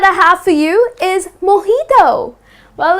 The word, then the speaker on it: mojito: is mojito ok so instead of putting stress on the j like mijito that's incorrect you're gonna say mojito I'll have a glass